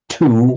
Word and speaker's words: two: and di in parley in English two we write the w but we don't pronounce it it's the same word